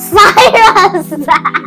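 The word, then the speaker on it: cirrus: clouds so this one is called Cyrus cus Cyrus Cyrus good thank you for correcting my pronunciation Cirus Cyrus Cyrus See Is size cus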